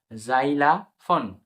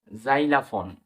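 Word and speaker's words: xylophone: এক্স ওয়াই এল ও এক্স ওয়াই এল ও পি এইচ ও এন ই জাইলাফন জাইলাফন জাইলাফন এখানে এক্স কিন্তু বর্গিজ এর মতন উচ্চারণ হচ্ছে পরবর্তী শব্দটি দেখি এক্স ই এনও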